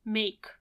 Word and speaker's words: make: E you keep it make makes you keep it although it's mute and you add s